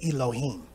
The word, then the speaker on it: Elohim: father in ancient Hebrew alayam is how you say god in ancient Hebrew if you speak modern Hebrew you would say Elohim okay and yahwah alah